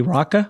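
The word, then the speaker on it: Raqqa: talk about how did you how do you pronounce the name of the Middle Eastern City raka raka raka can you take our listeners as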